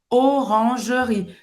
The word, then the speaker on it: Orangerie: Olha, eu não vou falar Oran. Orange, olha aqui, faz a boca do O e fala E fala E. Orangerie. Esse E no final não se pronuncia. Orangerie.